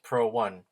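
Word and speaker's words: Pro1: here's the thermostat actually the company that manufactured that thermostat is pronounced pro 1.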